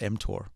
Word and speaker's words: mTOR: talk about before yeah you're pronouncing it correctly it's called mtor m stands for Mamon